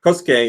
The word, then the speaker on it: Kosuke: Somebody told me how to pronounce this. Kosuke is the right way.